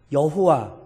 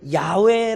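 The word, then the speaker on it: יהוה: 있는 자 이 단어가 히브리어로 여호와 또는 야외 라고 발음 되는 것으로 추정되는 이름이에요 그러니까 이 이름의 의미가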